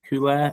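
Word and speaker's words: Güler: Um my player is Turkeykey's Ara Hule is it Huler who plays for Real Madrid.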